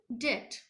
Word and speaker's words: debt: honorably that's d e b d it is pronounced at pronoun pronouns like debt be silent and that means loans okay he